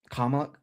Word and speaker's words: Kamala: But oh, I mean, I tried to have optimism, not because I thought Kamala was great. Um, Kamala, like a comma.